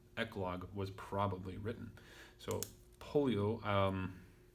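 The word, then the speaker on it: Pollio: So polio, though I think the O is normally not pronounced, if I understood the green and yellow correctly.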